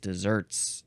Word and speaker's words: desert: oh god there Just Desserts deserts deserts no it is pronounced dessert here but it's not it's not the sweet tasty treat that you eat at